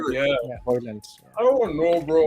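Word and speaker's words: Højlund: Yeah, Hoyland.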